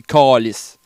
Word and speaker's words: calice: Tu sais, le calice, mais nous autres, on dit calice. Le A au Québec se prononce A.